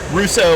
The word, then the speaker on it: Russia: You got Russo, Ohio, which is spelled Russia.